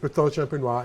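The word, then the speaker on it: méthode champenoise: Oded actually speaks French, unlike me, so I will let him do the French pronunciations, please. Thank you. So it's method champenois, and that's how we do it traditionally.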